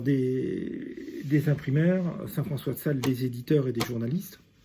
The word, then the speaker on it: Sales: Saint François de Sales, c'est SALES.